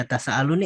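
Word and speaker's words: يتساءلون: kita ke how-nya gitu Bagaimana cara bacanya ketika nun mati ketemu ini gitu ketika Mad ini Mad yang ada di huruf mad yang ada di surah Annaba misal Amma yatasalun yatasaalun Nah ini yatasaalun nih apa Mat apa Nah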